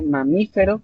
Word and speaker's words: mamífero: dijera en el caso de mamífero qué tipo de palabras si es correcto es esdrújula regla la regla gramatical